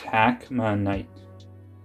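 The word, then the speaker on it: hackmanite: guys are it alright it's pronounced hack my knight i believe it i'll put the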